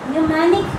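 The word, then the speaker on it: mnemonic: न्यूमेरिक codes, M से spelling शुरू होती है, लेकिन हम प्रोनाउंस उसको न्यूमेरिक कहते हैं, MNU, किंतु प्रोनाउंस है न्यूमेरिक।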